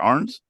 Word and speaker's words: Arens: And then we have, of course, with us Brynn Arens from. That's a weird name to pronounce. Yeah. Is it? But I did I get it right? Is it Arens?